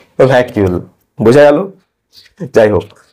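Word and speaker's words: vacuole: লিখছি ভ্যাকিউল বা ভ্যাকিউল আমি আগে এটাকে কি বলতাম জানেন ভাকুল ভাকুল বলতাম ভাল মানে ইংরেজি উচ্চারণ করতাম ভাকুল ঠিক আছে তোমাদের কারো কি হয় এরকম ভাল আমার আগে হতো ভাকুল ভাকুল থেকে আজকে আমি কোন পর্যায়ে পৌঁছেছি ভ্যাকিউল বোঝা গেল যাই হোক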